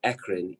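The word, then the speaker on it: eccrine: types first number one it's pronounced ekren ecc i and e akron glands or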